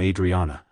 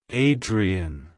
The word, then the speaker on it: Adrienne: Adrien it's pronounced as Adrien Adrien Adrian to pronounce it correctly emphasize the I sound at the beginning followed by a soft Dre and ending with a clear n like hello Adrien goodbye